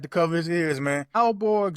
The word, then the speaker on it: Aalborg: Alborg Zoo in Denmark, if I'm saying that right, it's spelled Aalborg. So zoo in Denmark, and